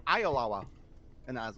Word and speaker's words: Oyelowo: David Oyelowo. I bet you were wrong. I bet you he grew up in the States and they all told him the wrong pronunciation, and he's like, actually, it's pronounced Ayalawa.